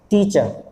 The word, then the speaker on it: teacher: टीचर, रा नहीं बोलना, टीचर, टीचर। अब यहाँ पर टी के